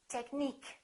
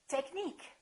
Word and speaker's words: technique: say engineer another rule if the word ends with i quu e we stress the suffix antique Boutique critique technique listen technical technique it changes critical critique let's learn